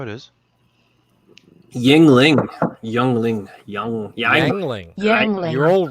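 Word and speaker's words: Yuengling: going to be right yangling nobody calls it yangling not even West Virginia yangling sounds pronounced yangling yeah you smelt it wrong isn't it EU I thought it was EU no that's how it is Yingling you're all wrong it's y-i-n-g-l-i-n-g that's how you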